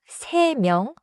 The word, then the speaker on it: 세 명: 명 begins with 미음. So 세 명 should not have a hard stop between 세 and 명.